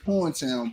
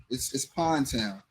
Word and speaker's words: Pondtown: We pronounce it Porntown, but it's Pondtown.